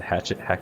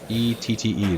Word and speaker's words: Hachette: Is it Hatchet Games? Hatchet Board Games. Am I pronouncing that I right? don't It's HACHETTE. That looks French.